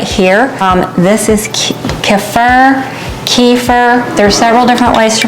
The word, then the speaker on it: kefir: to do right here um this is keur kefir there's several different ways to pronounce it whatever you want to do k e f i r and I had a friend bring me I